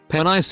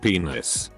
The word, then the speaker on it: penis: mom and asked her what a penis pronounced pen ice instead of penis because I got an